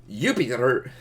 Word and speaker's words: Jupiter: Oh, by the way, I'm pretty sure that this one, J makes a Y sound in Roman Latin. So I'm pretty sure that this should be pronounced Jupiter.